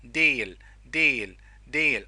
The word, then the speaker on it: değil: form of this tense, değil. Okay, there's a soft G.